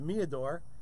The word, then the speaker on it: Meador: We're going to pronounce it Meador. It could be meter, but it's Meador.